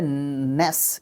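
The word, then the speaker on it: gnash: उसके बाद होता है नेस इसको नेस प्रोनाउंस करते हैं जी जो है इसमें बोला नहीं जाता है साइलेंट रहता है नेश योर तिथ नेश का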